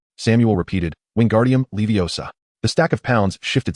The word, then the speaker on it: Wingardium Leviosa: Secondly, remember to pronounce the spell as Wingardium leviosa. The gar should be elongated and clear. Samuel repeated, "Wingardium leviosa."